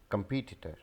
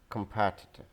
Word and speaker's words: competitor: I've heard many people saying it competitor. This is competitor, competitor, competitor.